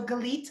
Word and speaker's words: Galit: nate my name is the best to remember that it rhymes with the word elite so galit ali okay so you're